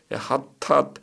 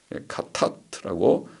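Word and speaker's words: חטאת: 죄라는 원어 히브리어 하탓, 카에 가깝죠. 카타트라고 하는 말은 표적을 마치지 못한 행동이라는 뜻입니다. 카타트라고 읽으면 좋겠습니다.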